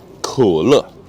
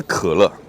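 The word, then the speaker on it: 口乐: 它虽然叫口乐啊，我不是发音不准啊，它就叫口乐，但它不是可乐，就有点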